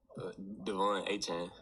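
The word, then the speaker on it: De'Von Achane: pronounced it but I'm going to have you pronounce your first and last name once and for all for if you don't mind Devon aan got it Devon aan there you go did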